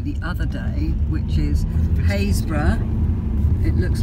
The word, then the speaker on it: Happisburgh: we took you the other day which is phase brah it looks like Happisburgh but it's pronounced haze bruh goodness knows and why which is where the